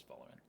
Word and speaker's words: Folarin: Did I just mispronounce Fola Is it Folarin? It is Folarin.